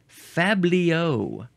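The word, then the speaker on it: fabliau: noun from from 1804 the plural uh I shall tell you is faos with a z sound because it is spelled uh you add an X at the end Fabio with an X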